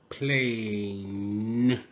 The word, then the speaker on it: plane: Pl. A. Plane. Plane. E is silent.